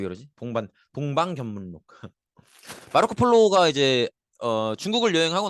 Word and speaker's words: 동방견문록: 더구나 우리 이거 중국사 배울 때 배운 적이 있는데 마르코 폴로의 동반견문록 기억나시죠? 발음이 왜 이러지? 동방견문록.